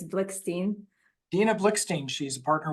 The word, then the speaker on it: Blikshteyn: or Dina it's Dena I'll send you the trouble of pronouncing my last name it's blickstein Dina blickstein she's a